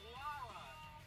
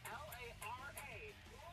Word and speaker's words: Lara: The lady's name is Lara. L-A-R-A.